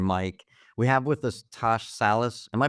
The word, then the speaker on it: Tash Salas: with Mark and Mike we have with us TSH Salis am I pronouncing it correctly yes okay cool all right